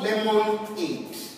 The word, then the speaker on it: lemonade: But when you pronounce the word, it is not lemonade. It is lemonade. So when you break this down, what you have is lemonade.